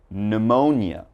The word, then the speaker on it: pneumonia: We start with pneumonia, psalm, psychology, psychiatrist, psychic, and psycho. So all right, if you ever see these words in something you're reading, just remember there's a silent P when the word begins with P and is followed by a consonant.